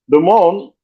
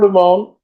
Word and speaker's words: Dumont: And Norma Dumont, and I'm saying it the French pronunciation. I know it's Portuguese and what have you. But Dumont, right?